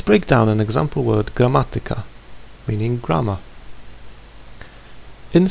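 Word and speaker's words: gramatyka: You may have noticed the way I pronounce the word grammatica. I stress the syllable ma which is third from last and not the second from last. This word is an exception to the rule like others that end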